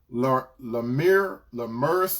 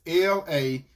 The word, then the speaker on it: Lamech: And if I'm going to try to pronounce his name right, it's Lamers or something like that. It's Lamech.